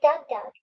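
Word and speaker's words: DougDoug: Douglas Scott, how do you pronounce that? Reading? Like Doug Doug.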